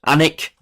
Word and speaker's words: Alnwick: Alnwick, that's how you say it, Alnwick 77.